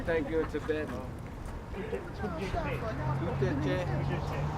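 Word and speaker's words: ཐུགས་རྗེ་ཆེ: Tout est cher. Tout est cher.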